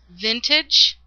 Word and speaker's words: Vintaj: this uh new technique um and product by Vintage. Now, it's pronounced vintage, but it looks like it's spelled and the way it's spelled it should be vintage.